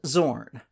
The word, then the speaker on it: Zorn: team at different times let's talk about Zorn and Zorn spelled with an X and A Z respectively the odd thing is